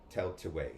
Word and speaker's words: Tailtiu: Now, the way the enunciation has you pronounce it as Tell, tell, Teetway, way, tell to way.